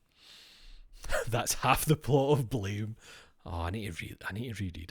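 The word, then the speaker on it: Blame!: I hate that it's actually pronounced blam because blame sounds mere like blame.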